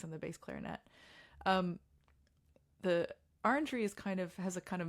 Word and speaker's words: orangery: I say orangery, but like if in French it's like orangerie.